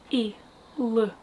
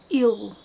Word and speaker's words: ele: But we don't really pronounce the E's at the end of words, so that L actually becomes a dark L, because it's at the end of a syllable. Il, il.